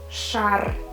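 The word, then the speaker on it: шар: it will sound and we need to read it as shahr shah which means balloon as you can see you pronounce everything every single sound you can hear sure you can hear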